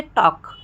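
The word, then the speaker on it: talk: अब के से पहले अगर एल आता है तो भी क्या होता है, एल साइलेंट हो जाता है। ठीक है दोस्तों, जैसे टॉक, टॉक में देखिए एल साइलेंट है। ठीक है, यहाँ पे हम टाल्क नहीं बोल रहे हैं, हम टॉक बोल रहे हैं।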